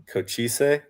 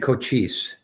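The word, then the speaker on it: Cochise: Maricopa and Coochis. Coochis. Not Coochis. Coochis. Correct.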